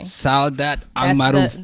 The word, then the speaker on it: Saudat Almaroof: You actually pronounced it properly. Saudat Almaroof. That's the right way to pronounce it.